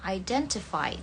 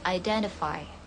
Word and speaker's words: identify: Ini untuk British ya, identify. T-nya dibaca tetap T. Identify. Ini artinya identifikasi. Kalau American, T-nya berbunyi mirip D. identify.